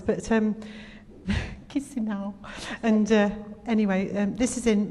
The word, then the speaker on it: Chisinau: took me ages to pronounce, but Chisinau.